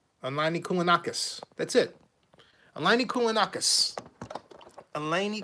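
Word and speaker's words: Kounalakis: Elaine Koulakakis. Elaine Koulanakis.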